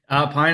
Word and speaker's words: Pyne: Pine is the correct pronunciation. It's Irish.